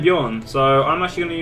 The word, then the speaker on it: Bjorn: How did you spell it, actually? B-O-R-N, B-J-O-R-N.